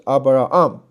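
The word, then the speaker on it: Ἀβραάμ: 是 Abraham 啊，这两个 r，所以两个 r 还记得吗？它要分开对吧？两个母音不能一块儿，所以 Abra 是一个，然后呢 arm 是一个，是 Abraham。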